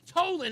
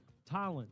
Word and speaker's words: Tolland: It looks like Toland. You're right. But it's I know. I'll say it now. Trust me. I'm putting it down on the thing now. Say T-A-land. So that's what. It should be spelled with an A. You're right. Phonetically, you're right. It does Exactly. sound like an A.